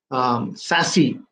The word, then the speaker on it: SASE: uh secure access services it's pronounced as sassy okay now before i